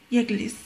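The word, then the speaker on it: يجلس: So the first we will pronounce the first two letters together, okay, because we take each letter with a sukoon together with a letter that precedes it only with a short vowel, so it becomes yeah with a gim becomes yeg.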